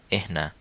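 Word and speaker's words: إحنا: শিখেছিলাম সর্বনামের ক্ষেত্রে যে নাহনু নাহনু মানে হচ্ছে আমরা কিন্তু সৌদি ডায়ালেক্টে এটা একটু ভিন্নভাবে উচ্চারণ করা হয় সেটা হচ্ছে এহনা এহনা যেমন এহনা আরিফকুম এহনা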